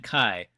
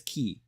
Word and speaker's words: ki: interchangeably say key and Kai obviously it's the correct way to say it is key but they're like they're